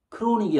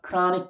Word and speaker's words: chronic: 크로닉이 아니라 발음해서 chronic disease.